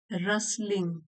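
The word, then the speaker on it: rustling: बहना, द रसलिंग leaves, रसलिंग, T silent है, Russell होता है फड़फड़ाना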